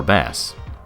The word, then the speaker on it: Bass: Man, Proto Man, or Bass. I'm sure they wanted me to pronounce it Bass, but they shouldn't have spelled it like the fish name.